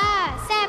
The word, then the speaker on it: แซ่บ: ๆ ยัง ไ น ถ้า เกิด ว่า แซ่บ มี ไม เอก มัน จะ ออก เสียง เร็ว ใช่ ไมย คะ แซ่บ แซ่บ แต่ ถ้า ไม่ มี ไม้ เอก มัน จะ ออก เสียง แบบ ลาก ยาว ก็ เลย แบบ อ